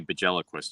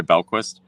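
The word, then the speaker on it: Bjelquist: You didn't say Bajeliquist, did you? I don't know. I don't remember. Just busting your chops. Say it. Introduce yourself. Belquist. The J is silent.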